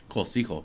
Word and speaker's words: Cocijo: Cosijo. Cocijo, you got it.